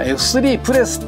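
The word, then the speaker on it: F3P: いえばねあの F 3 p っていうね読み方に関してあの F 3 プレスっていう風に読むんですよっていう風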